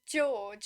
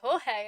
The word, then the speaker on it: Jorge: it happened with was Jorge from The Maze Runner. I kept calling him George, and then the movie came out and they were like, Jorge, and I'm like, who's Jorge? Where's George?